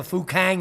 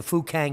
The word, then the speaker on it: Fukang: it's crumbling now have you heard of the fukang meteorite yeah you could mispronounce that and get demonetized quite quickly it's